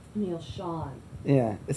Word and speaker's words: Schon: this is your lag neal it's really sean you know is it sean yes i'm saying it wrong well you know people have asked me two different times and i changed my mind now so i went back to sean probably just right